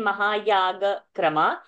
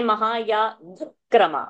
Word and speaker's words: महायागक्रम: Instead of saying plain, instead of saying 1 minute, Anirudh, instead of saying plain Mahayaga Krama, say Mahayaga Krama, one extra k sound with Mahayaga Krama.